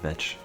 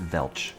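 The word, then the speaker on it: vetch: Although they've eaten the rest of my milk veetch, which I realized does not have an L and is not pronounced Velch. Get them.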